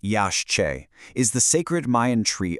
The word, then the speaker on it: Yaxché: So the Yaxché, and by the way it's pronounced Yaxché, is the sacred Mayan tree of life.